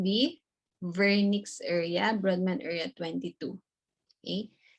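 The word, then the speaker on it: Wernicke: For comprehension, it's called the vernix area, Brodmann area 22. Okay, so this is named after a German neurologist. So you have to pronounce W as letter V.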